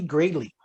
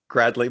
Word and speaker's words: Gradley: introduce you to him gary greatly and i hope i pronounced that right that's close enough gradley but sure just don't